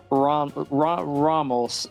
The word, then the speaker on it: Raml: Raml. It rhymes with Ronald.